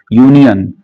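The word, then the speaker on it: union: भले ही यहां पे यू वोवेल है लेकिन इसका प्रोनाउंसिएशन जब करते हैं तो यू बोलते हैं। यूनियन और यह क्या है? कंसोनेंट साउंड है।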